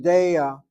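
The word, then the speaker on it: דֵּעָה: The word De'ah, notice how how I'm saying it. I'm saying De'ah. I'm not giving you Ashkenazi pronunciation. I'm giving you Sephardic rules of Hebrew grammar. That Seirei is there, it attracts the emphasis. De'ah, not De'ah. De'ah.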